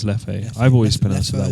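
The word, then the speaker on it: Leffe: you mentioned it howdy is that how you pronounce l e f f e yeah I think it's Lefty I've always been answered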